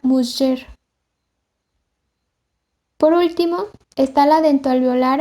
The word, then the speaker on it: mujer: El tercer fonema es la fricativa postalveolar sonora, representada con la letra G ante vocales como la E o la I, y pronunciada como sh, tal como se observa en la palabra mujer.